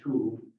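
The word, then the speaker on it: tau: But there was also, and I think the pronunciation is two, but it's spelled T-A-U, and that's the letter T in the Greek alphabet.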